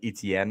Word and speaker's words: Etienne: That you look at how Achan, as in Devon Achan, is spelled, and Right. you look at Travis, it looks like Etienne is spelled, and the fact that just those two things can end up being pronounced essentially the same way.